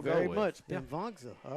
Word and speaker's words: Pimvongsa: Yeah, thank you, Carson Pimvongsa. Ward on our YouTube. So Pimvongsa. Thank that's what you we'll very go with. much, Yeah. Pimvongsa.